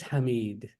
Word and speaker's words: Hamid: So you were pronouncing this word like it was this word. What's the difference? And ya makes the E sound, right? So this is Hamid. This is Hamid, right?